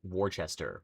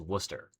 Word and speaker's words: Worcester: There's a town in Mass called Worcester, but it's spelled with like WC. It looks like it's just say like Warchester, but it's it's Worcester.